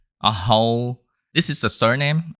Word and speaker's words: Hồ: a little practice you will be able to pronounce hole just like a Vietnamese good luck and do